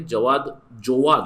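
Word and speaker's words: Jawad: जोवाद इट was pronounce जोवाद, आप देख सकते हो जोवाद प्रोनाउंसिएशन।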